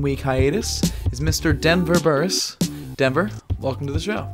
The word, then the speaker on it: Burris: Denver Burris. Denver, welcome to the show. Thank you for not pronouncing it Burras, by the way.